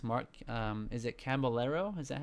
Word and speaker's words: Caballero: Is it Caballero? Is that how you say it? It's a Caballero. Caballero.